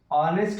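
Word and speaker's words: honest: Pronounce करोगे, ऑनेस्ट होता है, हॉनेस्ट नहीं होता है, ऑनेस्ट, ओ आ रहा है, यहाँ पे क्या हो जाएगा, एन हो जाएगा।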